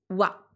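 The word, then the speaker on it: は: c'est Furi hajimeta yuki wa. Donc là, je rappelle, hein, les grands débutants, ici, on est bien sur la particule wa. Donc même si ça s'écrit ha, c'est la particule de thème wa.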